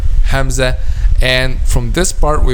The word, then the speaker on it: Hamza: The answer is the back of the tongue will not be raised when we pronounce letter Hamza, which means it will be a light letter.